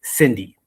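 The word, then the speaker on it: Cindie: So, I built something for the industry and her name is Cindy. C I N D I E. It stands for customer. The I is silent.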